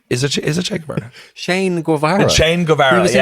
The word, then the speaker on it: Shane Guevara: Che Guevara? Is it Che Guevara? Shane Guevara.